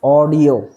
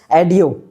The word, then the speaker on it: audio: बहुत लोगों ने मैं गांव में ही भी ये प्रोनाउंसिएशन लोगों के मुंह से सुनता हूँ, लोग कहते हैं एडियो। मैंने एडियो सॉन्ग सुना, इसको एडियो नहीं, इसको ऑडियो बोलते हैं।